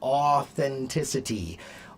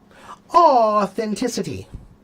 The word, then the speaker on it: authenticity: A like au is a. It's almost the same like a wee. A like awesome. Okay. So, authenticity, audacity, like when you see a cute baby. What What's the sound you make when you see a cute baby? A authenticity. Audacity.